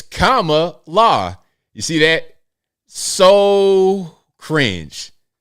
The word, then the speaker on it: Kamala: oh so so cringe pronounce the name right Al it's Kama law you see that so